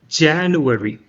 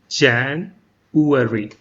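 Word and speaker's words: January: ஜானுவரி, ஜான்வரி, ஜனவரி கிடையாது, அது ஜானுவரி. February, February கிடையாது, ஃபெப்ரவரி.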